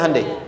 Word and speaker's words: Hyundai: Kita bisa kita dari tekad sehingga ketika di sana bikin Honda sini Hande Hyundai kan dibacanya Hande ya kan sana Honda